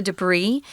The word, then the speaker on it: debris: fill filter out the debris we don't pronounce the S because it's a French word guys so that's why